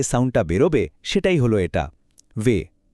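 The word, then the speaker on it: wie: আর যখন আই আগে আর ই পরে আসে মানে আই ই তখন এর উচ্চারণ হয় লম্বা ই এর মতো। যেমন ভি গেটস বা কেমন আছেন? এই বাক্যের প্রথম শব্দটা।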